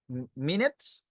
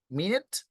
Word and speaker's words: minute: Minutes, okay? You can pronounce the first one as the minute, and the second one is as minute.